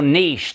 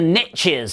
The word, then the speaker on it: niche: do is identify your Niche the riches are in the niches as the Americans say never understood that until I understood that Niche is niche in America there we go quite